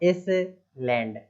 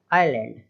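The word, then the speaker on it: island: लिखा हुआ है ना, तो अब इसको लोग इज, आई एस, इज, है ना, इस लैंड, इस लैंड, इस तरीके से नहीं पढ़ना है भाई, आइलैंड, आइलैंड।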